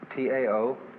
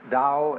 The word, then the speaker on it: Tao: You don't have to make up your mind how to beat it.